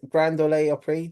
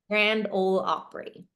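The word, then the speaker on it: Grand Ole Opry: too much but is Grand Dole opri debut yeah Grand yeah how do you pronounce it Grand all Opry oh okay it's probably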